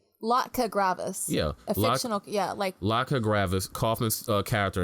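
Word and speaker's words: Latka Gravas: was later adopted by look how you pronounced that lack cook graphics we see Latka gravis yeah laka gravis koffice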